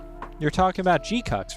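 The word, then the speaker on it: GQuuuuuuX: That is certainly a way to pronounce that, but with a ch with a title spelled GQ UX. How? What? How do I pronounce that? I prefer Gquax like we're talking about a duck.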